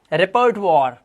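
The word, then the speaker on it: repertoire: क्योंकि यहां पर आप देख रहे हो ओ आई के बाद आर लगा हुआ है। तो ओ आई का उच्चारण इसने वा कर दिया।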